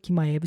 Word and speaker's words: Chimaev: Para você que tá em dúvida, porque eu falei Chimaev, eu descobri que o nome do Khamzat Chimaev se pronuncia Chimaev.